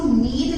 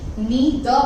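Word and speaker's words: 你的: देखिए नी द, एक तो हम इसको नीड नहीं पढ़ेंगे, नी द पढ़ेंगे, क्योंकि ये दो अलग अलग कैरेक्टर्स है, तो आप इसकी प्रोनाउंसिएशन मिक्स नहीं कर सकते।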